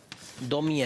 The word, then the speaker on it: Daumier: te va a encantar que se llama honoré 2000 tommy es donde se escribe daumier claro tenemos y por